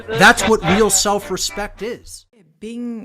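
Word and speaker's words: 病: Bing is how it's said in Chinese, original Chinese text.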